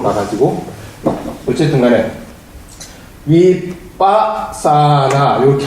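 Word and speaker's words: vipassanā: 길게 바람을 해 되겠죠 바사나 이렇게 돼 번 발음을 해 볼게 위빠사나 위빠사나 위빠 사나 어떻게 생각해요 거 이렇게 돼요 그래서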